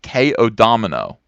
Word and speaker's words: Codomino: By the way, my name is pronounced K-O-Domino. Oh, like KO. Okay, like the game of dominoes.